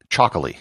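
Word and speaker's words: Txakoli: outside of the country it's called Cho spelled with a TX instead of a CH and it's produced in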